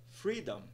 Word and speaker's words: freedom: nós temos aí Que na palavra Freedom o stress é na primeira sílaba se colocássemos aí de